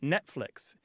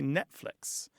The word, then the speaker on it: Netflix: like Netflix where you most people don't say the T try it Netflix if you're consciously saying